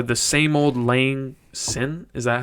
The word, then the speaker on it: Auld Lang Syne: I- The same old Lang Sin. Is that how you say it? Scene. You guys know that song? Maybe same old. Oh, Auld Lang Syne.